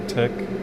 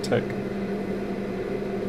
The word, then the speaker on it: TeX: that it's done in tech by the way that's spelt t x as in text but we pronounce it tech and then i usually